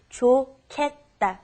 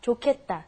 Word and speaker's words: 좋겠다: It's pronounced differently than how it's spelled. It's the pronunciation is 좋겠다. 좋겠다. Try that. 좋겠다.